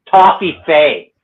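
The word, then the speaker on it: Toffifee: I call it top, but I think the proper name is Toffee Fay.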